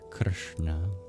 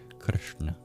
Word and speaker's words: Krishna: So it's not the same SH sound in English, where we just arch our tongue up to the palate. We curl our tongue back. Krishna. And then same with the N sound. It's a retroflex. Na. Na. We use the bottom of the tip of our tongue to touch against our hard palate.